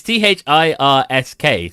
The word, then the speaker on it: Thirsk: Is that how it's pronounced? It's Thirsk.